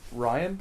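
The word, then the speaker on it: Rian: But however, for this film, Ryan, I assume his name is Ryan? I want to say Reen because that's how it's spelled, but I think it's Ryan Johnson revealed that Fisher helped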